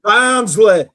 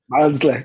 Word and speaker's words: Barnsley: It's pronounced Barnsley. Barnsley. Get it right.